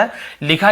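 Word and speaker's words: whole: होल होल यानी पूरा व यहां पर साइलेंट होता है लिखा जरूर बोलना नहीं केवल होल बोलो होल यानी पूरा पूरे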